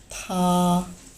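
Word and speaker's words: 他: প্রথমটা হি এর জন্য অ্যান্ড পরেরটা শি এর জন্য, বাট দুটোরই প্রনাউন্সিয়েশন হবে একই, থা থা।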